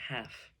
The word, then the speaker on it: half: of my kombucha today half h-a-l-f the L you don't say you don't say how half I drink half of